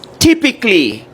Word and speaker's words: typically: It's typically, the A is silent, right?